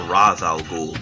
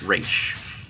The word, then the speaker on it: Ra's al Ghul: Ra's al Ghul, who many people mistakenly call Ra's al Ghul because of that stupid fucking Batman movie. But basically everything I've looked up says, yeah, it's correctly pronounced Ra's.